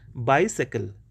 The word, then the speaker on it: bicycle: It is bicycle, sickle. y is sounded like an I.